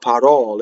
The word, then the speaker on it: parole: Now we come across our first open vowel in the word, the second syllable of parole.